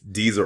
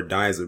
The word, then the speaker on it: Dizer: I hope I'm pronouncing her last name correctly. It's either Deezer or Dizer, but it's spelled D-I-Z-E-R.